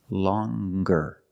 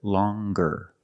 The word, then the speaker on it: longer: sound long but then you have longer where we have the hard G sound longer with a nasal sound plus the hard longer and we have the